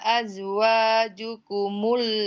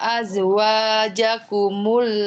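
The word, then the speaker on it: أزواجكم: Wa ma ja'ala azwajukumul la'i. Jimnya fathah, bukan doma. Apanya fathah? Jimnya tadi bacanya jukumul, jakumul. Iya. Wa ma ja'ala azwajakumul la'i tudzahirun.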